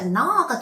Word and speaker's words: gnaw: 자, not가 동사예요. G-N-A-W인데 G가 소리가 안 납니다. 그냥 not라고 발음하고 이거는 막 이렇게 물어뜯다, 깨물다, 뭐 갉아먹다 이런 뜻이에요.